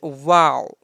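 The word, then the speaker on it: واو: noon and next is wow wow so simple like in english we have wow so in arabic wow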